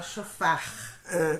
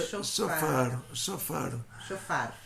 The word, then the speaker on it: shofar: Então, tem um reish, shofar, tem um reish no final da palavra, você fala brr, o brasileiro não pronuncia esse reish. Então, brasileiro, no português é difícil pronunciar o... Fala shofar. Mas é shofar.